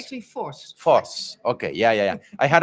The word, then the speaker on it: Vos: I always wanted to talk to her, Vos. Welcome. Hi. Did I pronounce your last name right? Yeah, can you say it again? Vos? Yeah, Vos. it's actually Vos.